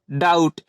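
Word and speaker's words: doubt: ओ यू बी टी इसे हम क्या पढ़ेंगे डाउट क्योंकि टी के पहले बी है इसलिए रहता है तो इसे हम क्या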